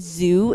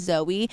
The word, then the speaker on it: Zoe: for doing that, and she would pronounce my name as Zoo, not as Zoe, and I think one